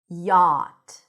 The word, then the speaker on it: yacht: Yacht. Yacht. So, we actually don't pronounce the ch.